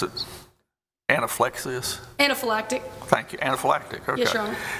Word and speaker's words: anaphylactic: Weber, testified that the treatment, and I cannot begin to pronounce it, anaphylaxis? Anaphylactic.